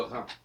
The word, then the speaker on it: Rhin: Alors ce qui est intéressant en passant, c'est qu'on écrit Rhin R-H-I-N et Rhône R-H-O, accent circonflexe N-E, mais on ne prononce pas différemment qu'il y a un H ou pas dans le R.